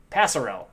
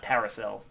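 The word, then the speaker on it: Pasarell: paris paris parisrell pisarro not sure where the emphasis of the syllables is on that one passerel oh that's cause i read it dyslexically passerelle not paracel pacerel 16 of 25 come on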